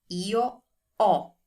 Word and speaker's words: ho: I have, io ho. Notice that we don't pronounce the H. This is very important. Do not say ho. That does not exist in Italian. The H is always silent in Italian.